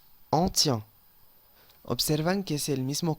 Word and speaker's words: tient: Y recordamos que la ENT, ¿cómo se pronuncia? E, E. Yo digo, il tient, tient, ¿ok? No puedo decir il tienne, ¿ok? Incorrecto, il tient. Elle tient.